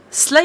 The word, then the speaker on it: SLA: of the setting outline of the setting itself slay industries SLA is indeed pronounced Lee is a company a huge corporate